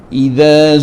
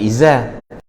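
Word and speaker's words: إذا: Taklah iza zulzilatil, sebab yang pertama tu zal, idza, bukan iza.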